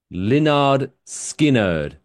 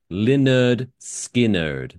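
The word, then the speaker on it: Lynyrd Skynyrd: The title of the album was quote pronounced Leonard Skinnard. Like they what's the word? Um where you spell it how it sounds phonetically. They phonetically spelled the band name.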